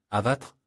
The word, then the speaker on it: Avatr: D'ailleurs, l'entreprise affirme que le nom de la marque s'écrit comme il se lit, Avatre, mais le nom du modèle n'est pas 11 mais 1.